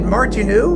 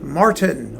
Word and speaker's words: Martin: And yes, we have completed Martinu, working backwards through the alphabet, and so now we are on Frank Martin, or Martin, depending on how you pronounce it in the French or Germanic style.